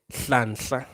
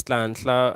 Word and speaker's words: Hlanhla: My real name is Hlanhla. Like, it's not an easy name to pronounce. It's Hlanhla. I think it means blessing. I think it means blessing, but yeah, it's Hlanhla.